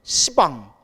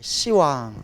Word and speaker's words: 시왕: 돼요 왕 이래야 돼요 십왕 근데 못 같아요 욕 같죠 이런 왕 그래서 뭐라고 발음해요 어 시이라 발음하는 거예요 시왕 알겠죠 발음이 억센 거는 이렇게 이제 발음을 부드럽게 시방도 원래는 빵인데 십